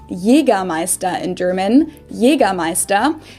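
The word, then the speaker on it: Jägermeister: alcohol this is pronounced yiga maesta in german jagermeister english speakers usually say jagermeister which is pretty much the same just with a pretty thick accent i think it's so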